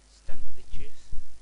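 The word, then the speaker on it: Stankevičius: I've had this player in both forms, he is in form, and he is in like silver, so Stankovicius. Oh, that's how the commentators on FIFA pronounce him.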